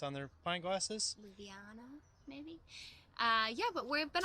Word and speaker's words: Ljubljana: That's how one of the main breweries is pronounced on their pint glasses. Ljubljana, maybe?